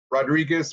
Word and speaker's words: Rodriguez: Uh my name is Rodriguez or you if you can roll your Rs, you can say Rodriguez.